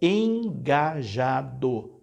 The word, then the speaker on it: engajado: nela ela está errada a palavra é engajado não tem n ou engajada uma pessoa que é muito atuante da igreja é uma pessoa engajada Ah e não é uma pessoa engajada tão lembre-se não tem é esse n depois engajada e não engajada eu disse